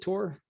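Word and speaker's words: Tor: yep that's right hey how do you say your name tour is it tour um yeah it's just tour t.o.r yeah okay all right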